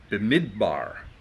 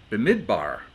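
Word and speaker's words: במדבר: But Numbers has to do with the name Brindamore, or Bemidbar. It's hard to pronounce some of these things, huh? Bemidbar.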